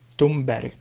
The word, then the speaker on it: Thunberg: Estoy bastante seguro cómo se pronuncia, así que os doy una pista. De acuerdo a lo que dicen aquí, Greta Thunberg.